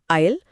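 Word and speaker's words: aisle: तो एक है थिएटर के अंदर का रास्ता आयल और दूसरा है समुद्र के बीच की जमीन आयल। स्पेलिंग में इतना अंतर पर आवाज में कोई नहीं।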